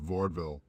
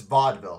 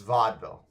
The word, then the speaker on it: Vaudeville: Justice to the streets of vaudville it's Vaudeville it's pronounced Vaudeville ah my apologies for